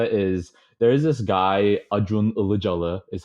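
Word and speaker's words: Acun Ilıcalı: the the idea is there is this guy ad room allah jalla is how you pronounce it in turkish he's one of the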